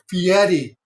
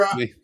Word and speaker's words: Fieri: time Ferrari, You're the first one to correct Ferrari. me. That's fine. If anybody's gonna correct you, it'd be me. I knew I Fieri. was saying it all wrong. I suck at pronunciations. You're fine. It's Fieri.